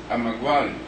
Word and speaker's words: Emeagwali: Philip I'm iguala the pronunciation as the chairman said in more previous meeting if you look at the spelling you would know what the pronunciation is but we ask you to take it from us that the pronunciation is a maguann the record i might